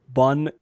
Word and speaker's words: Bon: In French, we would say bon cop, bad cop. Bun cap. Bun cap, bad cop. There goes my best attempt. But like in English, it's like bon cop, bad cop.